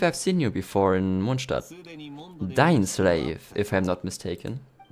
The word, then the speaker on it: Mondstadt: one of the things, I really want to pronounce Mondstadt the German way, but when you're in the flow of reading something in English, then like, at least for me, because I'm in the flow of the language, I automatically want to pronounce it English and go like Mondstadt. I don't know yet how I'm gonna do it, but the proper way to pronounce it is Mondstadt because it's German, okay?